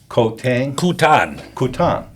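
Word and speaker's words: Koh Tang: I don't know how to pronounce K-O-H Tang? Kutan. Yeah.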